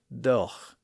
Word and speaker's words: though: heard some older and some more educated speakers still saying doch.